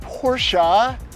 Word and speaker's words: Porsche: And it is pronounced Porsche.